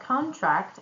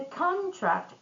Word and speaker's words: contract: If we put the stress on first syllable in both words, it's going to be a noun. And when we put the stress on the second syllable, it's going to be a verb.